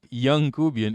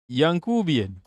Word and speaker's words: Yankubian: It's not Youngcubian. It's Yankubian. This is a word we invented, okay?